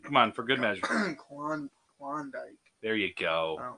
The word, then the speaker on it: Klondike: You said it weird. It's Klondike. Klondike? Yes. That feels weird in my mouth. It's the proper way to say it. It's not a W. I promise, Rob. I'm not steering you astray on this one.